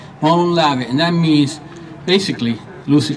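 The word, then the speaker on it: Μολὼν λαβέ: And I lived in Greece, so I know how it's pronounced, right? Molon lave, and that means, basically, loosely translated means, if you want our guns, come and take them.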